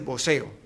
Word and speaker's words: voceo: putas, que es el voceo. El voceo, no el boxeo, porque aquí además como la X la pronuncian como la S, es difícil separarlo, y como la B se pronuncia como la B.